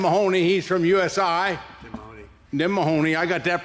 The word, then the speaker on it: Mahoney: Tim Mahoney. I got that pronounced right.